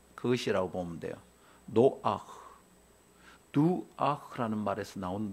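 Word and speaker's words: נֹחַ: 그 독일어나 불어에서 이런 목젖 소리 있죠. 그것이라고 보면 돼요. 노아흐, 두아흐라는 말에서 나온 노아흐, 안식하다, 안식, 이런 뜻이죠.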